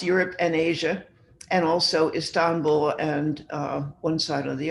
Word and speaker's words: Istanbul: And I'm saying Istanbul because I use a Turkish limousine service. And because I always like to know what's going on in Turkey, and they pronounce it Istanbul, so I'll try to do that.